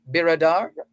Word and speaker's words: Biradar: And did we get the pronunciation right? Biradar?